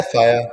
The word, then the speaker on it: Faja: Yeah, Faja.